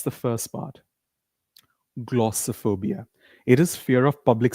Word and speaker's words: glossophobia: It is glo. Repeat after me. Make a pout. Glasser. Glosser. Glossophobia. One more time. Glossophobia. Not glossophobia. Not so. Why do we call it? Because we don't stress all the syllables in a word.